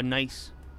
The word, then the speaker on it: Nice: It's not pronounced nice. It's pronounced nice.